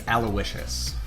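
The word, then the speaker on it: Aloysius: bit weird uh my middle name is alowishus that's how you pronounce it um so I have this this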